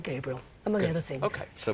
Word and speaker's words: Gabrielle: It is spelled Gabrielle, but I've always been called Gabriel, among other things.